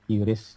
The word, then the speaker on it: QRIS: Terus nomor 6 juga mengenal transaksi cashless ya, dengan QRIS gitu, atau bacanya KRIS ya, QRIS di scan gitu ya.